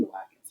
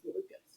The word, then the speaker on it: Malukas: I'm saying Malukas, but I think it's Malukas.